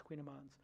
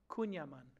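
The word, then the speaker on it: kouign-amann: Cal hollow that makes Queen Iman's queendom on am i pronouncing correctly Queen Amon queen Yemen Queen demon one more time Yemen Queen one more time Yemen Cunha man great Cunha man so these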